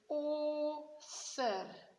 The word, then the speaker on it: author: right, cat, can, but now AU sounds like O. So you will say author. Okay, so it sounds like O, but be careful, you two. You have to spell it AU. And also author sounds like an E there, but it's an O.